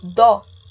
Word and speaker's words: dó: O dó, percebam que ele é forte, a gente ouve o ó bem forte. Por isso, ele é considerado uma monossílaba tônica. O do, por outro lado, o som do o some. Eu vou repetir a oração para vocês perceberem. Eu tinha muito dó do filho da professora. Ele vira quase um u, a gente não fala direito.